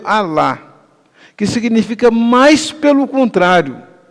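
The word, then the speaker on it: ἀλλά: Ela é pronunciada no grego alá, que significa mais pelo contrário, completamente oposto.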